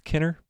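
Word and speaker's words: Kiner: the guy who is Kevin Kenner I believe is Kenner Kenner is how you pronounce it Kevin Kenner is doing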